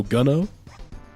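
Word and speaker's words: Geno: Gino G like gun. So, Guno, my favorite Super Mario RPG character, Gun.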